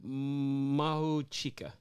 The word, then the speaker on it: Mahuchikh: Please pronounce her name. Okay. Yaroslava Mahuchikh.